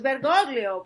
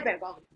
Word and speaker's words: Bergoglio: Bergoglio o Bergoglio, no, yo decía, pues Bergoglio porque se latinoamericanizó, o sea, y después ya dejó de ser Bergoglio, fue Francisco, ¿no? Entonces, ya yo diré Bergoglio.